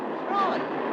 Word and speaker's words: Troy: My name's Troy. You said Florence? No, oh, not even deep. Troy. I'm sorry, I can't hear. It rhymes with joy.